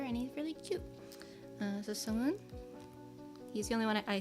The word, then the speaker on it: Sungwoon: I don't actually have the album from this era, but I do have a Sungwoon. Sungwoon. I want to say Sungwon because I spell it like that, but it's not.